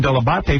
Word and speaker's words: Dell'Abate: I don't remember specifically day one, but I know I got the pronunciation Dell'Abate from you. I said that is the proper way to pronounce it, but nobody.